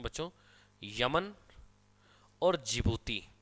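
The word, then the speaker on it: Djibouti: में बच्चों यमन और जीभूति देश का नाम है की उसके आगे दी लगता है दी साइलेंट होता है एशिया का देश और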